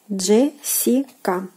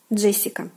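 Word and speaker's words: Джессика: And then we follow with the corresponding letters Jessica. Jessica. Jessica and Jessica. The Jessica. So make sure that you pronounce this consonant combination correctly.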